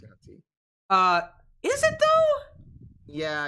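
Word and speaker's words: Yuan-ti: Pronounced Yanti. Is it though? Yeah, it's called pronounced Yanti. But wouldn't the A be before the U if it was pronounced that?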